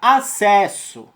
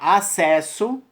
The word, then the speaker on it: acesso: Ao você emitir, não tem 6 letras, né? Passa a ter somente 5 fonemas. Ou seja, A-C-E-S-O. Ou seja, o duplo S você acaba emitindo como somente um.